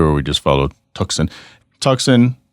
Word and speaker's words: Tuxon: we just follow toxin tuxin it's spelled t-u-x-o-n is on purpose because when you try to say the word Tucson that's exactly how it's phonetically you know it looks like toxin so yeah man um